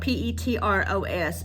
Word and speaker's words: Petros: The small town of Petros, it's spelled P-E-T-R-O-S, but we refer to it as Petros.